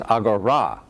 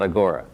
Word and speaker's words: AGORA: And Javiera told me that this has to be pronounced AGORA, not AGORA, because, she said, don't I know the final alpha has an accent? I don't know the Greek. But anyway, so the AGORA project, Assembling Galaxies of Resolved Anatomy.